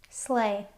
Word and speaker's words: sleigh: There are some other words that have the same spelling and sound. So, we'll group these with the word eight.